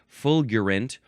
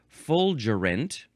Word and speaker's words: fulgurant: I think it's that's how it's pronounced fulgurant or you can pronounce it fulgurant. Um and uh so it's that the letter G is giving us either pronunciation the G or the J.